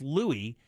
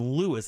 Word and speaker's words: Louie: actually spelled o-l-o-u-i-s pronounced Louis but he changed it because everybody called him Lewis and he hated it um he decided early